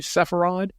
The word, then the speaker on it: Sepharad: your new book your book called south of sepharad am I pronouncing that properly sepharad that's correct okay south of sepharad tell us